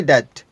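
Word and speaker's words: debt: मेरे ऊपर कर्ज है यहां पर भी साइलेंट है इसको हम पढ़ेंगे डेट आपके कितने पैसे हुए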